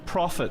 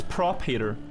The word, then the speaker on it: Prop Hater: I thought it was Prophet, but it's Prop Hater.